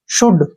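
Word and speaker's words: should: यह ध्यान रखना है जब भी डी से पहले एल आता है तो एल साइलेंट हो जाएगा ध्यान रखना आपने डी से पहले एल आता है तो एल नहीं बोलेंगे हम उसको प्रोनाउंस एट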